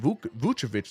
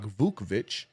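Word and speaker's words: Vučević: It is pronounced Vucevic like normal, right? It's not Vukovic.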